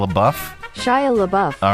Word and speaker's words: LaBeouf: I always say boof, but Shia LaBeouf.